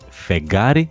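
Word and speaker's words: φεγγάρι: Finalmente, tenemos los diptongos gamma kappa y gamma gamma, que se pronuncian de manera igual y parecida a g de gato, como por ejemplo en las palabras gri, que significa gris, y fegari, que significa luna.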